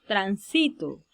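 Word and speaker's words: transito: la tercera si la observen tránsito luego tenemos tránsito y por último tránsito observen como en estas palabras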